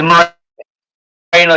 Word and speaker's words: Moreno: Tell me, am I pronouncing Moreno right? First off, It's Moreno.